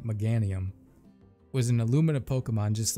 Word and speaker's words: Meganium: doubt about it that megan mcganium i think i've been saying it wrong meganium was an illuminate pokemon